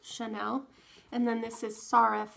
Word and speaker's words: Sirref: shy now it's spelled like shinel but it's pronounced Chanel and then this is sarif not serif I think is how I do it so